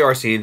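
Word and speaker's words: Arsène: Well, I don't know if Arsene Lupin was, I'm not saying that right, Arsene? I'm going to say Arsene, because that's how it's said in Lupin the Third, and I'm not going to fight anime.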